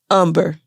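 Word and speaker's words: Humber: last name was umber umber so that's the that's the original name that h-u-m-b-e-r umber um but it's pronounced umber as if there's no h right the h is silent right so and your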